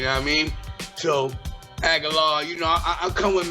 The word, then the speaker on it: Agallah: I loved the Agallah. Am I saying it right? Agallah. Agallah. Yes.